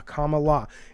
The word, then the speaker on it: Kamala: to me he says just think comma in La I'm like Comm La comma LA and it's not out